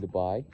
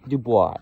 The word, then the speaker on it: Dubai: Anyway, um I'll uh I'll probably vlog in Dubai. Yes, I call it Dubai. I don't call it Dubai. I I know I know that's how it's supposed to be pronounced, but I I don't know.